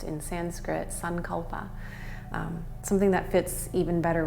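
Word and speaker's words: सङ्कल्प: with a saying or a sankalpa as it's pronounced in Sanskrit, sankalpa, something that fits even better with you.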